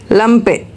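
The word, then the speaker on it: Lampe: सो I repeat if we having a ई एट द एंड। सो we should go फॉर अ फ्रेग लाइजे लैंपे and next one इज़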